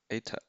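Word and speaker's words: η: It's pronounced ATA.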